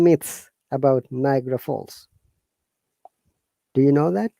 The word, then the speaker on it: Niagara: Niagara, Ni- how to pronounce? Niagara.